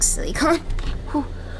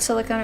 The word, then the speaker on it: silicon: You were saying silicone earlier, which is a different thing.